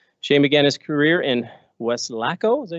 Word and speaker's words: Weslaco: Shane began his career in Weslaco, is that how you say it? Weslaco, there you go, Texas, where he was a